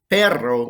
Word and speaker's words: perro: masculine feminine uh so you noticed perro with an r but perro with the trilling double r uh dog elgato and